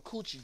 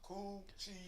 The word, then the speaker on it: cool chi: I call them coochie juice because it's how good they taste. But it's pronounced cool chi.